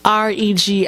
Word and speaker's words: RegiWroteIt: RegiWroteit, pronounced Regiwroteit, one word.